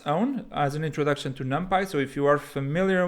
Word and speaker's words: NumPy: there's a package called numpy i've also heard it pronounced numpy but i think it stands for numeric python so numpy i think is the more standard pronunciation and so the numpy